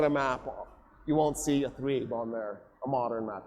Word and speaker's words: Yathrib: He ends up in 622 doing the Hijrah, which takes him to Yathrib, which on this map is spelled Yatrib.